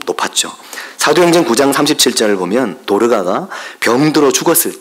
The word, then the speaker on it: 도르가: 어떤 분은 도로가? 이런 분도 있더라고요. 도로가가 아니고, 이게 발음이 안 되실 수는 있는데 도로가가 아니고 도르가입니다. 도르가.